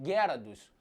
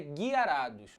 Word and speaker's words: Gyarados: E aí naquela época era falado Gyarados, igual é dito em inglês. Só que hoje em dia o termo que eles estão adotando é Guiarados. Então nós tínhamos essas 3 formas de pronúncia. Gyarados, Gyarados e Guiarados.